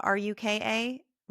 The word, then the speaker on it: Ruka: And we should tell people that this area you're in, is it Rucka? R U K A Ruka Ruka I think is how they pronounce it.